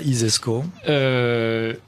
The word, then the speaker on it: ISESCO: Alors l'ISESCO, si vous considérez que ça, ISESCO. Comme ça se prononce, hein, ISESCO.